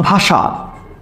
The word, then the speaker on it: ভাষা: তাহলে বানানে আছে কোন স? বানানে আছে মূর্ধন্য স, বানানে আছে মূর্ধন্য স, কিন্তু উচ্চারণ হচ্ছে কার মতো? উচ্চারণ হচ্ছে তালব্য স মতো, এই কারণে স তালব্য স ব্যবহৃত হয়েছে।